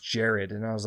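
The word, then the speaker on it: Jerrod: and same thing with uh uh I've always pronounced King Jared as king Gerard that's how I actually don't know which one's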